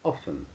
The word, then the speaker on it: often: often fall back already the tea is silent often okay people often fall